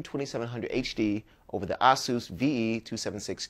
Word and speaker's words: Asus: if you ask Aus they'll tell you it's pronounced Asus either way it sounds like it's a pass